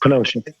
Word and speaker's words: Kenosha: Yes, Kenosha.